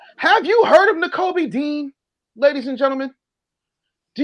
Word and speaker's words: Nakobe: Nakobe Dean. Let me spell it for you. NK. It's like Kobe, but nah in front of it. Nakobe Dean.